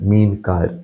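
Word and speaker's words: meenkar: Mean car is a Malayalam word. Mean means fish. Car means people who deal with mean car. Mean car, that's the way it's pronounced.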